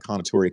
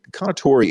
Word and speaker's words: Kounotori: learn a lot a little bit about the konatori community the conatori and i hope i'm saying it right and